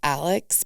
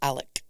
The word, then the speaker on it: Alec: good to know and the dad it's Alex but it's Alec oh interesting yeah okay